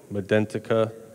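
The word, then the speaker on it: Medentika: These are the multi-unit abutments from NT Trading Company, or I think you pronounce it Medentica.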